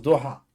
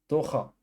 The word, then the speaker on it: Doha: Ça se prononce Doha. Doha.